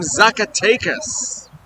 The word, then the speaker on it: Zacatecas: And coming up right behind them on taxi is Valaris, joining us from Zacatecas. Did I even pronounce that right?